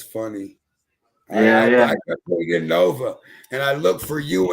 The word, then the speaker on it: NXVX: But I also got my brother, my actual brother, Nova. And his name's spelled NXVX. I don't know if you've had him on the show yet. It's spelled how? NXVX. but it's Nova.